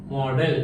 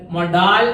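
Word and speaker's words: modal: എന്നുള്ള അർത്ഥത്തിൽ ഉപയോഗിക്കുന്ന വാക്കാണ് മോഡൽ എം ഓ ഡി ഇ എൽ എന്ന് എന്നാൽ നമ്മുടെ കഥാപാത്രം എന്താണ് എം ഓ ഡി എൽ ആണ് ഇതിനെ ചിലര് മൊഡാൽ എന്നൊക്കെ പറയുന്നുണ്ട് എന്നാലും മോഡൽ എന്നാണ് ഡിക്ഷണറിയിൽ എന്ത് അതിന്റെ ഏകദേശം ഒരു ഉച്ചാരണം കാണുന്നത് അപ്പൊ ഈ മോഡലിന്റെ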